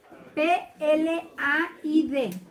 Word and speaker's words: Plaid: Plaid. P-L-A-I-D. Plaid. Así se pronuncia.